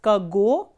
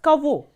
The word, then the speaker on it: кого: And please remember that this ge here is pronounced as v. So instead of pronouncing it as kago, we are pronouncing it as kavo.